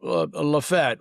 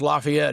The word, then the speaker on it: LaFayette: to where, I mean, take Lafayette, which is pronounced Lafayette everywhere outside of Chambers County.